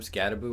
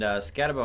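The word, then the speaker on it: Skattebo: I mean, it's spelled with one O, but I've heard people say Scatabo. I've heard a overwhelming amount of people say Scatabo. Okay, But so Scatabo, maybe that's wrong.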